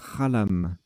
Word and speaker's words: xalam: Alors j'ai dit Xalam, mais en fait ça se prononce Khalam.